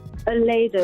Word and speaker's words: Olaedo: Olaedo, like Ole and Do.